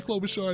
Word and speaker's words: Klobuchar: i'm really sorry that my name is amy klobuchar and it doesn't rhyme with anything except superstar but i'm not a